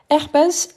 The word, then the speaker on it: herpès: Herpès, c'est un H muet, donc je dis l'herpès.